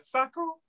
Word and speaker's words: SACU: How do you say that? SACU? Is that how you say it? Yes, that's our ARC program. Okay. SACU. I was going to say it wrong.